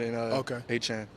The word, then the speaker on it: Etienne: But I came here, Travis Etienne. I feel like that's just gonna. I feel like that's the correct way to say it. But everyone put that French, that Cajun lingo on in Achan.